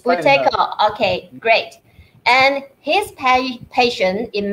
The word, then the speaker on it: Buteyko: It's actually a Russian name, so I don't know how the Russians pronounce it. You should say Buteyko, okay. Buteyko. Yes, it's Buteyko.